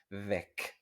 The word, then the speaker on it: weg: Weg, weg. Y se pronuncia muy corta, weg. No como Weg de Nicos Weg, el camino de Nico, el nombre de la serie, ¿vale?